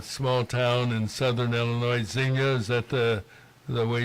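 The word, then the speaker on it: Xenia: Now you indicate you have a place in um Chicago and you're in a small town in southern Illinois, Zena. Is that the the way you pronounce it?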